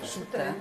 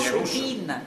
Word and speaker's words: Soutine: Soutine, come si pronuncia? Soutine. Ma non è francese, ah, no, è Soutine. Russo.